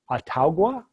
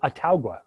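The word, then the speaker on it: Autauga: this one, A-U-T-A-U-G-A, because I'd like to know how to pronounce that one. Ataugua? I bet no one in the South actually calls it Ataugua. It just was way too many syllables. They've adjusted it somehow.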